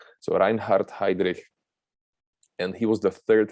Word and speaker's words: Heydrich: his name was reinhardt heydrich heydrich you can pronounce so reinhardt heidrich and he was the third highest nazi in